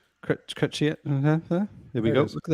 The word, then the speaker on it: Chrétien: Chrétien.